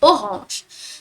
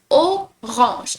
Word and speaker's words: orange: So like the AN in French we pronounce it as on instead of an, like in English. So it becomes orange. And once again the R you gotta pronounce it with your throat.